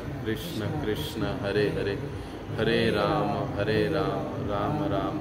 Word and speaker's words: राम: हरे ही बोलना कृष्ण कृष्ण ही बो कृष्णा नहीं कष्ण नहीं कृष्णा नहीं कृष्ण राम रामा नहीं रामो नहीं हमारे कभी कभी फॉरेनर लोग कर देते हैं लेकिन वो गलत है अभी वो उनका प्रोनाउंस